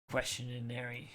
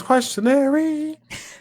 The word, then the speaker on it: questionnaire: of that new Steven questionnaire we just got to call it seem as questionnaires uh segment Steven's questionary it is not good that's not how you pronounce questionnaire not good questionary let's